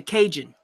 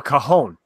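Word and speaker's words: cajón: Jeff Robinson wants to know, have you ever tried building a Cajun? Oh, a cajon. Okay. I pronounced it wrong.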